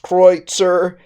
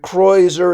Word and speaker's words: Kreuzer: check it is Cruiser it might also be pronounced kreutzer but kroyser is common that's k-r-e-u-z-e-r uh so the obvious